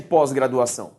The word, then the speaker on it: pós-graduação: pós ou seja tônico a pronúncia de posposto é pôs o fraco beleza então a diferença